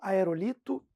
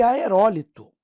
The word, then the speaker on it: aerólito: porque tem que saber, é pudico ou é púdico? É interim? É ínterim? É aerólito, aerolito? Pessoal, gabarito letra B. Pudico, paroxítona, ínterim, proparoxítona e aerólito, proparoxítona. Portanto, elas são acentuadas, ó.